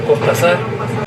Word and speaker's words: Cortázar: desde el nombre que muchos piensan o nos achacan que no lo sabemos pronunciar, que es Cortázar, y aquí les explico por qué sí se puede pronunciar Cortázar. No hay ningún error fonético ni ortográfico.